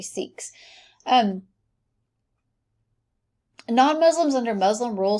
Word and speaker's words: Sikhs: new religion of the six who rejected the caste system and recognized people of all religions as children of god it should be sikhs i think that pronounces six but it actually seeks um non-muslims under muslim